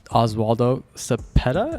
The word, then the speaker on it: Oswaldo Cepeda: And today we have Oswaldo Cepeda.